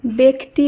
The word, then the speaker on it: ব্যক্তি: এ হিসেবে করতে হবে তাই ব্যস্ত ব্যবসা খ্যাত জ ফলা যুক্ত এই শব্দগুলির উচ্চারণ হবে এ হিসাবে এবং ব্যক্তি ব্যতীত ব্যতিক্রম এই শব্দগুলির উচ্চারণ হবে আবার এ ধ্বনি হিসাবে আজকের ভিডিওতে এরকমই আমরা